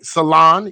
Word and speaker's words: Solon: Salon.